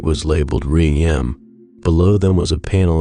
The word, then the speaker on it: REM: "ADM and REM, pronounced Adam and Rem.